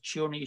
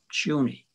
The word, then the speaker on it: Chiune: Chiune Sugihara, it's a very strange first name, Chiune. If you turn it into Hebrew, C-H-I-U-N-E, C-H in Hebrew is pronounced Chiune.